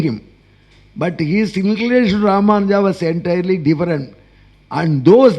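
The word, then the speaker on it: Rāmānuja: Natvam should come there. You should pronounce it as Ramanuja.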